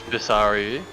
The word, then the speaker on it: Visaru: how he pronounces his last name. It is Visaru.